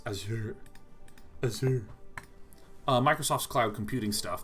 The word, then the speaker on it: Azure: brought up the word azure which is not pronounced azure it's azure uh microsoft's cloud computing stuff there's they have a project management thing called azure devops so a lot of these project management